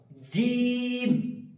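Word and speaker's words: ج: জিম বলার সময় খেয়াল রাখব জিমটা হবে ভারী গলায় এবং জিমে তিন আলিফ টান দিতে হবে। জিম। এটা যেন চিকন বা সিটি যেন না বের হয়। জিম যেন না হয়ে যায়। জিম জীবের মাঝের অংশ উপরের দাঁতের উপরে তালুর সাথে লাগিয়ে উচ্চারিত হবে জিম।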